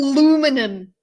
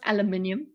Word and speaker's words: aluminium: Their razors are made with solid aluminum, making them not aluminum. It's pronounced aluminium, but Shu, just not only durable, but also environmentally friendly.